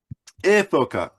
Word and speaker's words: Ephoca: And it is made by Efoca, Ephoca. Efoca is how you say it in Italian.